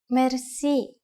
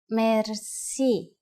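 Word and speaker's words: мерси: Merci. Merci. Merci is a loan word from French, but it is pronounced with the typical Bulgarian hard R.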